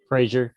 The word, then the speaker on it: Frazier: am I pronouncing your last name correctly? Frazier, yeah.